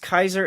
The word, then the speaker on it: Caesar: tuning in saying hello Caesar is pronounced Kaiser in Latin by the way sounds